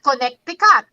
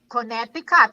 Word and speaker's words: Connecticut: like yes you know like connecticut not connected connecticut my connecticut not connect god and then arkansas i'm